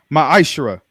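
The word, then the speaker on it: מעשר: in the Hebrew, and it's pronounced ma'ashra, 10% of every penny and increase the Lord gives you, give to the treasury department or the teacher.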